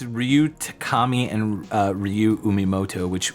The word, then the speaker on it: Takami: Ryu yuoto Yeah we actually did yeah it's Ryu Takami and uh Ryu umoto which the latter of